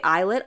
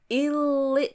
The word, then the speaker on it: ILLIT: I'm like, don't spell it like I if you don't want people to read illit because that's literally what it looks like. Like monster X, there's no other way to pronounce that. Okay. So, when people are saying monster, it's like, can you read? But yeah, I say eyelet all the time. Okay. I mean, illit all the time because illit is what it looks like.